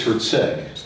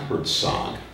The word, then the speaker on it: Herzeg: It's Herzeg. What's that? I see how you operate. You're trying to upset me by mispronouncing my last name. It's Herzeg, not Herzog.